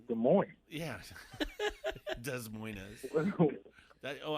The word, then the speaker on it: Des Moines: nervous i don't know he grew up in des moines he probably won't wow i was on a call with somebody today and they they said des moines i said are you kidding me it's des moines yes des moines that oh i don't know